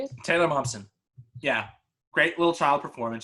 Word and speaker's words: Momsen: Taylor Momsen.